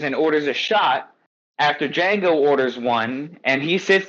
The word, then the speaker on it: Django: He says, and Django says, "My name is Django." DG or you know, like he spells it and he says the D is silent.